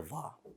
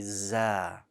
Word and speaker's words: ظ: I am going to note here though a common mispronunciation of the letter Dha. And that is, sometimes it's pronounced mistakenly as a Za.